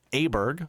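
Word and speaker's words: Åberg: found out how to say his name properly aberg Ludwig aberg um 140 you can see in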